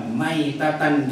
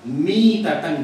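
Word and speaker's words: ميتة: Ibnu Hajar alasqalani membacanya Itu bukan mata maitatan jahiliah tapi yang benar adalah mata miatan jahiliah bukan Ma tapi Mi beda dikit doang tapi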